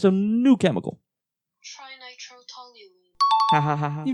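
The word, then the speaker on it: trinitrotoluene: It's pronounced trinitro-toluene.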